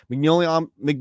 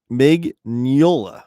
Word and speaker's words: Mignola: Mignola Omnibus. Mignola. I'm sorry, I'm trying to always say his name correctly. There's like that weird like Yola in there.